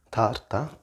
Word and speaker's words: tarta: Remember, another thing is, if you do pronounce the R, it's just a bit more, it's not like the English R.